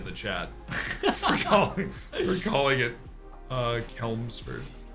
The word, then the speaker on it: Chelmsford: Oh, you said it right. First time I saw it, I said Chelmsford. I mean, it might be. I don't know. No, it's Chelmsford. I've been flambéed in the chat for calling it Chelmsford.